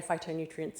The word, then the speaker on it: phytonutrients: Now I know phytonutrients is spelled with a ph but we say it with an f, right?